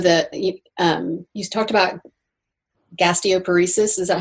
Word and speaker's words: gastroparesis: sharing some of the um you talked about gasteoparesis is that how you say it gastroparesis yes and so yeah i have a few